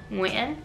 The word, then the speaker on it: Nguyen: So I spent many years practicing because my last name is Nguyen, so I needed to learn NG, how to pronounce that.